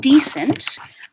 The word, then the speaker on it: decent: All right, so starting with decent, we're going to hear the stress pattern on the first syllable with a tense vowel at the front of the mouth.